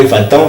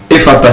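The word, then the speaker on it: Ephata: Et disons, pour la chorale Efata, ce qui veut dire ça nous a été trop bien sûr, trop bénéfique dans ce sens-là.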